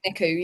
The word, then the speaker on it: NICU: spent 6 years in the Is it the NICU? Is that how you say it? 6 months in NICU, yeah.